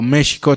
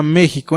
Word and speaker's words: México: Y fundan entonces así México, o México Tenochtitlan, ¿ok? ¿Por qué digo México? En el náhuatl la X se pronuncia como X, ¿sale?